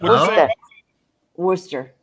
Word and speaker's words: Worcester: oh so say no noer what' you say Worster wer that's it she that's close that's pretty